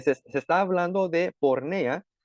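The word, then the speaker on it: πορνεία: pornea, así es como se dice, se escribe.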